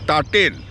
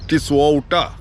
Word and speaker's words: Tisauta: which Zhang mispronounces as Ta-Tein. 56 kilometers northwest of Pidhauli is a place called Ta-Tein. Folks, Ta-Tein is a mispronunciation of Tisauta.